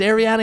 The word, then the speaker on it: Ariana: Ariana? Is Ariana here? Sorry, it's Ariana. Okay, and? Like what's your point? That's just how it's pronounced.